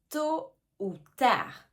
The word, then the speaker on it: tôt ou tard: Attention ici aussi aux lettres qu'on ne prononce pas. Tôt hein. Le t à la fin on ne prononce pas. Et le d à la fin de tard non plus.